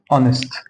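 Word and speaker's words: honest: الاتش مش هيتنطق اونر اونر هنا الاتش مش هيتنطق هنا ايهست انست انست انست هنا اقول ايه ميكانك ميكانك خد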